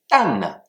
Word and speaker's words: 但: Le premier, tan, D-A-N, quatrième ton qui s'écrit de la manière suivante.